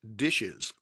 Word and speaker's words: DHSES: I am with the New York State Division of Homeland Security and Emergency Services, or more commonly referred to by the acronym DHSES, pronounced DISHES.